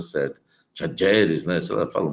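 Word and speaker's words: Talleres: Lá estava na Argentina, lá eles estavam, eu estava vendo a pronúncia certa, Tajeres, né?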